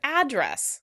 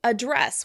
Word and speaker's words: address: In British English, the word would be pronounced address with stress on the second syllable. Address, address. In American English, the word will be pronounced address. Address with stress on the first syllable.